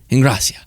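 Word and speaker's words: Ingrassia: Am I pronouncing that correctly? Ingracia. Yeah. He was going through sort of a difficult time.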